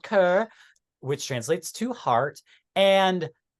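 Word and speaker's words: Cœur: me guessing um but I believe you pronounced this ker um and it's translated to heart I did get the translations this time so it's called ker which translates to heart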